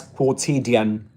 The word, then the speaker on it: quotidian: That's quotidian, and that'll be the pronunciation quotidian.